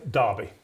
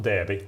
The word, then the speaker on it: Derby: Pronounce that again. Darby. Darby. Not Derby.